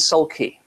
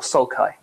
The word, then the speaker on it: sulci: valley is the sulcus, or the plural is sulci, yeah, or sulci. There's no right way to pronounce Latin, by the way.